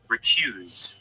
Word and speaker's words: recuse: probably recuse okay so this is how you say it okay listen very carefully recuse you hear it listen again recuse okay one more time recuse Okay.